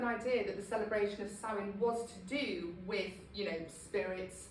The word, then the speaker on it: Samhain: pagans celebrated New Year with a festival called Samhain. It's spelt S-A-M-H-A-I-N. A lot of people sort of think it's pronounced Samhain, but it's Samhain, just to be technical.